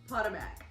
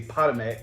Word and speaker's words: Potomac: you pronounce this hahaha how did you pronounce it potamac how to make that's not like a Pokemon I never heard nobody say Potomac until you came into